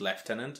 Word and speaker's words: lieutenant: is no we say lieutenant now in in England like the word is pronounced leftenant that's it yeah I